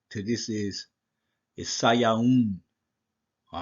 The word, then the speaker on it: Sivan: next thing, the modern Hebrew, and the correct pronunciation to this is Sayaun.